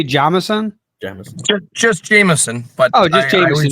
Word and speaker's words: Jamison: Jamison.